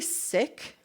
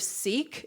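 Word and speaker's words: Sikh: She is an activist um and a civil rights attorney and she's of the it's actually sick instead of seek at least how she pronounces it.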